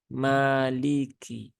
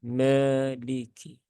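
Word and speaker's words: مالك: Maka jangan diucapkan dengan me, ya, me, tapi dibuka mulutnya, ya, dengan sempurna dan sewajarnya, ma, maliki, bukan meliki.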